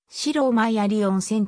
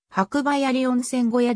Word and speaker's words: 白馬鑓温泉: 2100m 地点にある白馬だけの読みは正式には白馬岳なので白枚あり温泉と読む人もいるが山小屋としての正式な読みは白梅あり温泉小屋である単に鑓温泉とも